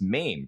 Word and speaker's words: Maim: I had growing up it's spelled m a i m in English that's MIM like to dismember someone to remove the limb right like a bomb goes off and the soldier was maimed okay so some people I